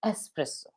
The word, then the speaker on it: espresso: often pronounced it as espresso, but it is not Hmm. espresso. It is espresso.